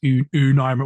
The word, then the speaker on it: Un: Final Fantasy 9 it's un was pronounced it as O's mirror you know like un French like one you get those artifacts